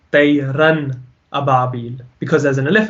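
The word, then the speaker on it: طَيْرًا: Tayran. We pronounce the N clearly, so you definitely know there is an N there.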